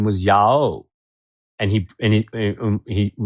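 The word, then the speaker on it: Yaw: school whose name was Yao. and he and he he you know it's spelled y a w but he would say it's not pronounced ya it's pronounced ya o and I remember making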